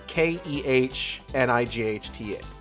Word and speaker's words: Knights: No, it's Kehnights. It's just, you pronounce Knights but with the K.